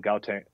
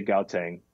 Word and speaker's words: Gauteng: And it was Saturday in Gauteng. I say Gauteng, but the locals say Gauteng, South Africa.